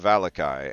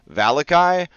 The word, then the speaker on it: Vallaki: to hear it and I don't want to pronounce it valaki or valaki I want to pronounce it valakai so that's why we're